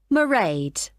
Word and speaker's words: Mairead: Sorry, how do you spell that? It's M-A-I-R-E-A-D. Mairead.